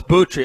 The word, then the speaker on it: Buttrey: First off, I want to hear this guy's last name, how you pronounce it. Buttrey. Oh, it's Buttrey.